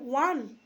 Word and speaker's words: one: আবার ওয়ান, যেমন such a ওয়ান, ওয়া, ও এর উচ্চারণটা WA, ওয়া হচ্ছে।